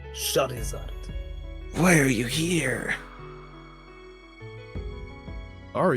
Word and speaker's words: Charizard: Dad, Sherazard, It's pronounced Charizard.